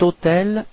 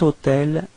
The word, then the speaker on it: hôtel: Keep in mind that even if hôtel is starting with H, H is actually not pronounced, so the first sound of the word is O, so it does mean that it's a vowel, and in this case